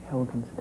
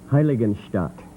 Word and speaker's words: Heiligenstadt: Helgenstedt. For 20 points, Plano, do you know the answer? The Helgenstedt. Say it again. Helgenstedt. I'm going to ask the judges to help me with pronunciation on this. Heiligenstadt.